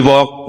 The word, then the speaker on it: walk: We walk the talk, not only talk the talk. Coba kita pelajarin. Ada kata walk. Jadi berjalan, walk, itu L-nya nggak dibaca. Walk.